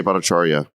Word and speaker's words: Bhattacharya: And then there were people who were banned from the Trends blacklist, including a Stanford professor, Bhattacharya. Did I get it right? Yes, Jay Bhattacharya.